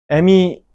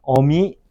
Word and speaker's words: 어미: 애미, 애비 이것도 아니야. 어미, 아비가 맞습니다.